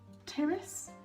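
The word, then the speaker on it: Pteris: which is a fern Terrace I'm assuming you don't pronounce the T a Pete even -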